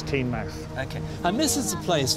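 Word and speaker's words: Teignmouth: if you're a local they usually call it teen month but if you're officially its teen max okay and misses the place for Loula came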